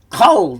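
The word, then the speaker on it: כל: tend to follow, and it is that the kamat changes to a short O sound in an unaccented, closed syllable, usually the first. So this one is a closed syllable. Right, there's nothing following the lamed. There's no vowel or anything like that. So we can say kol then.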